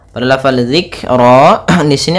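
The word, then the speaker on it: ذِكْرًا: fathah bertemu alif kemudian zikro pada lafal zikro di sini ada huruf dzal kecil jangan sampai dibaca dengan zikro tapi dia zikro.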